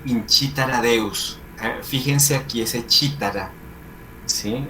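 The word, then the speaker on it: cithara: Fíjense aquí ese chitara, ¿sí? Está con TH, pero se pronuncia como si la H no existiera.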